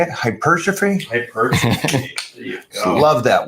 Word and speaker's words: hypertrophy: Hypertrophy.